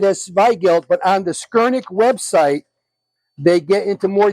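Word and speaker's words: Skurnik: add to your add that to your list skerik let me spell it right for you again s r SK r n i k skir Nick and um they're one of the top prod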